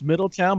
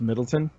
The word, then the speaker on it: Middletown: it's in the States most people in the disc would server if they don't say their country says Middletown but I betches pronounced Middleton yeah so he shared within